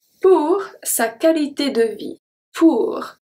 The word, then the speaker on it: qualité: Pour sa qualité de vie. Pour. O, oh, oui, make the sound ou. Sa. Sa. Qualité. Here we pronounce everything beside the U after the Q.